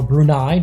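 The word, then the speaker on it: Brunei: and now Afghanistan against brune or brunai depending on how you want to pronounce it but here on marel CU we're going to pronounce it brune they're in the yellow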